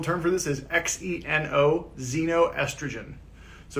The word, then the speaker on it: xenoestrogen: right the technical term for this is x-e-n-o xenoestrogen so it's it's spelled with the x but it's pronounced like